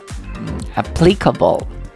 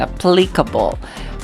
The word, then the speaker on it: applicable: most probably nila genius has a second applicable that's a second applicable but actually that is incorrect that the correct stress should be on the first one okay it should be